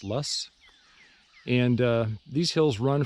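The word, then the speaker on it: Loess: uh various locations in what is called The lus Hills it's uh spelled l o SS but it's pronounced lus and uh these Hills run from the Missouri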